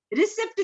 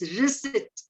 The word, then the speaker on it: receipt: When we go to bank, सब बोलते हैं कि हमें रिसिप्ट दे दो भैया, रिसिप्ट. It's not that. It's receipt. Okay, it's receipt. The next word is psychology.